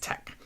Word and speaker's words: TeX: You need Quarto install, TinyTeX, and it's TEX, pronounced tech.